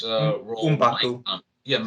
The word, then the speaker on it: M'Baku: Winston Duke's Mabaku's role might Umbaku, yeah, as they pronounce it in the movie.